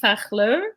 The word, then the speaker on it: Fachler: Okay, so Melissa Goldwag and Gaby Fachler.